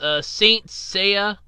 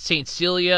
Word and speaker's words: Saint Seiya: seen the anime series Saint Seiya I always called it st. Celia and I always mispronounced it I do apologize or